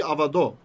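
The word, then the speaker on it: עבדו: His servant would be avado. Avado, right? It still has the vav at the end, but it's pronounced o.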